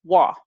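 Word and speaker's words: waw: The next consonant or letter is wa, W-A-W, wa. Wa, as in way.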